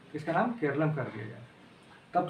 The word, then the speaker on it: केरलम: और दूसरा 8वीं अनुसूची में 22 भाषाओं का जिक्र है, तो 22 भाषाओं में भी केरल का नाम केरलम कहा जाए, ना कि केरल के नाम से उसको उल्लेख किया जाए, उसको प्रोनाउंसिएट किया जाए, केरलम कहा जाए।